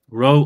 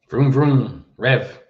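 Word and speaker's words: raibh: a road to uh row of course is Ulster pronunciation that is a word you probably know r-r-i-b-h I pronounce it as a rho how do you say this word Ben rev rev very different indeed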